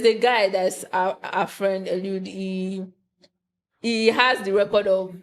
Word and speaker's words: Eliud: They call it Eliud. Eliud. Eliud. His name, I got that pronunciation from there.